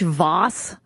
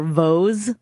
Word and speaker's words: Voss: As some of you might have guessed, since you didn't hear his voice, Rich Voss, or Vose, as a lot of you pronounce it.